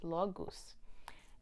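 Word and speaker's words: Laguz: on your current course this card is pronounced la la goose law goose and the meaning is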